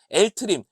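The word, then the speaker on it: LTRIM: L트림, 레프트 트림입니다.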